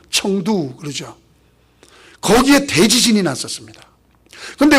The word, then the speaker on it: 청두: 그래서 캠퍼스 미션하고 또 대각선으로 내려와서 지금 그 성도, 예. 한문들은 성도고 원래 발음은 청두 그러죠.